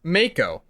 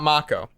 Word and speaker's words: Mako: the policy 7 remake pronounced Mako not Mach o that around for 20